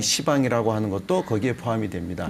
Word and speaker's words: 시방: 시방이라고 하는 것은 뭐 있는 그대로 곧대로 읽는다면 열십자, 십방. 네. 근데 이제 이건 부드럽게 시방이라고 읽는 거죠.